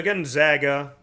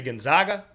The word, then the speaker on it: Gonzaga: Some of you say Gonzaga. I had said Gonzaga forever, but from what I understand, Gonzaga is the correct way to say it. So that is why I say Gonzaga.